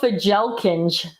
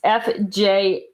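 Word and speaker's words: Fjälkinge: I'm pronouncing it incorrectly, but that is how our English is here, how my English is. They're called Fjelkinge. It's Fjalkinge, right? It's a Scandinavian word, obviously. So it's not pronounced that way, but that is basically how it is spelled.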